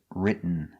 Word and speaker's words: written: The pronunciation of written. You go to a stop t, but you don't make the t. You stop written. And then you fall to an N.